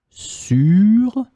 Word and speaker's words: sûre: You just add E in the end, but you pronounce it exactly the same way. Sûr, sûr.